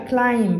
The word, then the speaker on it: climb: climb الام دي يا جماعه لما يجي بعدها بي اللي هي البي فور بوك اللي هي تبع كلمه بوك، يبقى البي مش منطقه، هتبقى كلايم بس، وفي الماضي تبقى كلايمد، هنحط لها اي دي فقط.